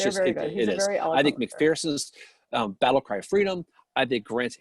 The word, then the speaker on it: McPherson: always suggest mcpherson's books you see i said mcpherson that time by the way uh-huh that's how he pronounces it so maybe he's right